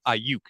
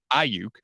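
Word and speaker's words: Aiyuk: It's not Ayuk, it's Ayuk. But Ayuk.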